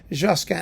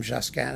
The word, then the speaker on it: Josquin: want to pronounce him Josan everyone just calls him jasan it's like calling him Fred it makes him more kind of you know homey and friendly life two polyphonic masses